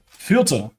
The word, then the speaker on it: Fürth: How do you say this name, Mike, with your German? Fürth. Fürth.